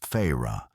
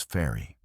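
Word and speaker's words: Feyre: The main character, Feyru, pronounced in book as Feyra, but in English as fairy.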